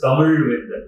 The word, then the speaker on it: Tamil Vendan: What is my name? Tamil Vendan. What is it? Tamil Vendan. It is Tamil Vendan, not Okay. Tamil Vendan. I correct it.